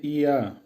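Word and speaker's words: я: ইয়া, উচ্চারণ হবে ইয়া, বাংলা হবে আমি।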